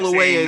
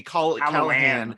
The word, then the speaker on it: Calloway: or does it subconsciously in a Freudian slip, mispronounces names. Oh yeah, because he kept Calloway saying, he calls him right. deliberately Callahan.